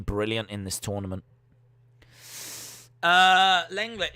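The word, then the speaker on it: Lenglet: in this tournament uh langlet is pronounced longley not after not after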